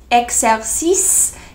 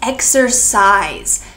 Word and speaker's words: exercise: correct it is not x-axis it is exercise it sounds like the word size the the coffee was